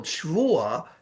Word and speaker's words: Shvua: So the word Shvua is not Shavua. Shvua means 7 years. Shavua means a week.